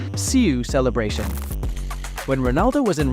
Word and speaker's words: siu: Es como sí. U. No, pero sí. Pero es sí. ¿Entiendes? Pero sí con U. Sí, como diciendo lo ha hecho, como sí. Pero hay una U ahí.